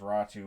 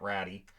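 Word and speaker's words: Räty: for volvoier uh our which I put as raw two but of course it's spelled ratty but we learned pretty quickly it's not ratty and a 2023 first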